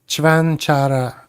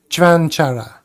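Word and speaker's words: Čvančara: The name is pronounced roughly as Chvanchara, with the C sounding like the CH in church, Van as in English, C again as Ch, and Ara as in Kara, or Chara, making it Chvanchara, emphasizing the first syllable.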